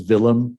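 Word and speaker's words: Vilhelm: now as a as a Dane um of course his name he would be known as as villum kudon would be the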